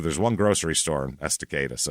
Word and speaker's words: Estacada: I am not going to fuck this up because I looked it up and made sure I knew the pronunciation. It's not Estacada? Estacada.